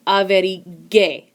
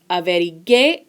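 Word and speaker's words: averigüé: So we add an umlaut here, and that helps us to pronounce the GU with a gua sound. Think back to pinguino. So now we would pronounce it averigue.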